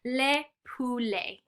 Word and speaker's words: poulet: So it's got this OU grapheme making the OO sound, gorilla, and also it's got the T on the end, but we do not pronounce that. Le poulet.